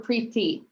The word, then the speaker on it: Preeti: Is it Preeti or Preeti? Preeti. Preeti. Gotcha.